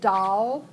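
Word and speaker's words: dal: of things that are marked D a el pronounce doll and that's actually the Indian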